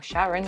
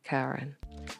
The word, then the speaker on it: Charon: one is charon or sharon i'm not really sure i kept saying it wrong and it is actually pronounced as karen so basically charon is